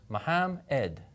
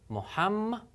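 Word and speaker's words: Muhammad: it together fast Mohammed remember in Arabic there actually are two memes here and they're both pronounced imagine that one of them is going with the syllable before of it and the other one's going with the other syllable Mohammed Mohammed and then say that faster Mohammed so that you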